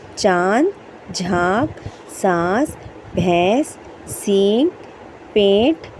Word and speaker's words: चांद: लेकिन यहां हम पढ़ेंगे चांद।